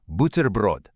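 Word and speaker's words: бутерброд: It's buterbrod. Let's go syllable by syllable. Bu-ter-brod.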